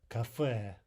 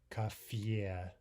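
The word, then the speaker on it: кафе: The Russian for cafe is café, café, right? Not café.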